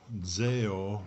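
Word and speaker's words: ζέω: well that word fervent that's a greek word zeo zeo is how you say it and it means to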